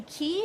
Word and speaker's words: Quay: are from the company key it's spelled like way though qu a why these are my favorite